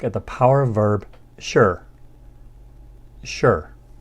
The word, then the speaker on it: 是: the power verb sure sure it has that falling tone now this verb translates